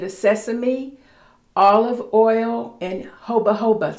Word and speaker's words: jojoba: This is made of sesame, olive oil, and jojoba. Some people call it jojoba because it's spelled J-O-J-O-B-A, but this is what a part of that is.